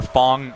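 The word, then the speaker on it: F.A.N.G: Oh my God, the Fang dream is alive for all you Fang fans out there. Or Fong is how a lot of people say it's supposed to be pronounced.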